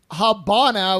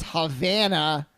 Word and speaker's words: Havana: Havana first of all it's not like ha bah now whatever you said it's Havana well I mean if